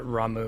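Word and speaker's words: Ramuh: Quetzalcoatl beats out Ramu. Gonna get Quetzalcoatl in Final Fantasy 14 any day now, right? Y'all have convinced me to pronounce that Ramu.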